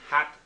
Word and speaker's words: Hatshepsut: guys get the picture just phonetically pronounce it hat she's boots puts a chef's suit Hatshepsut okay so did I suit